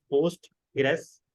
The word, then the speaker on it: Postgres: अब pronounced as पोस्ट grace QL.